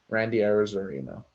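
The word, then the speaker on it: Randy Arozarena: please i was arena that's his name randy arizorino that's how you pronounce it there we go uh but brandon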